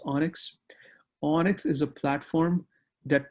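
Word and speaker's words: ONNX: technology to know is onyx o and nx pronounced onyx onyx is a platform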